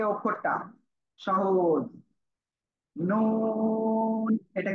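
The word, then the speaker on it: نون: জিহ্বার আগা তার বরাবর উপরে তালুর সাথে লাগিয়ে নুন উচ্চারিত হবে। নুন উচ্চারিত হবে।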